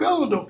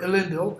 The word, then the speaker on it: Elendil: Hey, if the sword of Elendil could come, or Elendil, as it should be pronounced, that would be a help beyond our hope.